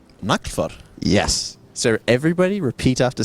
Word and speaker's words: Naglfar: Okay, CCP Gargant, can you please tell everybody listening to the stream what the correct way to say the vertical Minmatar Dreadnought is? Naglfar.